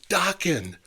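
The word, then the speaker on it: Dokken: How about some docking? Rhymes with rocking.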